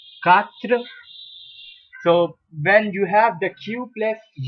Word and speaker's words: quatre: Then it goes the way as you do not pronounce the U, which is the U, and it becomes CA in English language. So it is pronounced as quatre.